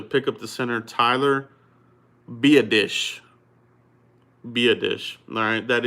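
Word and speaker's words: Biadasz: round pick to pick up the center Tyler be a dish be a dish alright that is the pronunciation I finally looked it up I looked it up in Dane burglars draft guy is Tyler be a dish alright so with Tyler be a dish out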